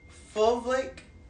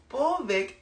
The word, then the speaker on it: fulvic: Sheila J is packed with uh fulvic acid is most magical component. And y'all don't be coming for my pronunciations.